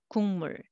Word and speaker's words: 국물: So let's read syllable by syllable. 국물. So separately you can read, but together 국물, 국물. You will hear 응 sound instead.